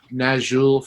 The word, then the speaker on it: Nazxul: Well, I mean, I always plug my buddies in Nazul from Australia. Oh, yes. That is spelled Nazxul.